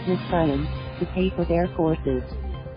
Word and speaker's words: Nxivm: Many who signed up quickly became indebted and ended up having to work for Nxivm, pronounced Nexium, to pay for their courses.